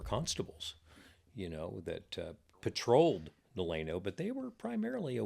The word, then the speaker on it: Delano: So then in 18 actually 72, they came in and said it's going to be called Delano, named after Columbus Delano.